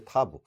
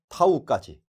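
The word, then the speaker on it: תו: 그리고 우리가 히브리인이 직접 발음하는 걸 보면 타브로 하는 것을 보게 될 것입니다.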